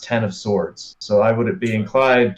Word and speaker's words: X of Swords: the notes on the wikipedia it does say x of swords is pronounced as e-x so x of swords because